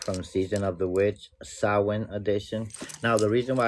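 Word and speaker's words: Samhain: It's I mean, it's not Sam Hayne like you see it here. It's pronounced sin.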